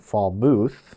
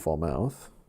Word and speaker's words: Falmouth: So, right now, if you know you're in McBain and Fall Muth, not Fall Mouth, uh that is where the only severe weather is currently ongoing and it's wind driven hail at the current time.